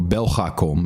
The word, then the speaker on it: Belgacom: Now, I know, or Belgacom is how you would really pronounce it.